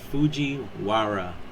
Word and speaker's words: Fujiwara: Fujiwara. And that's how it's spelled.